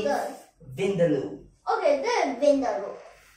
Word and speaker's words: vindaloo: Okay, so how do you pronounce this? Vindaloo.